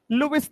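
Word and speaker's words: Lewis: Hindi NCERT पे वहां पे लुईस लिखा हुआ है, हिंदी प्रोनाउंसिएशन इसका लुईस है, ऐसे इंग्लिश में लेविस बोल देते हैं।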